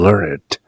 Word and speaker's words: learned: 많이 배운 사람들, the learned 이렇게 발음하지 않고 learned라고 또렷하게 발음하는 것이죠. The learned. 그저 동사로서 I have learned. 나는 무엇을 배웠다 할 때는 I have learned. 그렇게 발음하지만 과거 분사로서 the learned, 배운 사람들 할 때는 ned라는 발음을 해주는 것이죠.